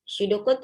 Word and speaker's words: pseudocode: Pseudocode itu begini. Kode apa itu pseudo ya? P di depannya, tapi kalau bahasa Inggris kan P-nya itu tidak dibaca di depan, silent letter ya. Jadi pseudocode.